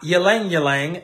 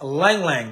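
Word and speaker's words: Ylang-ylang: Now, another oil that's really cool that y'all probably familiar with in compassion is Lang Lang oil, not Ylang Ylang. It's Lang Lang. The Y is silent.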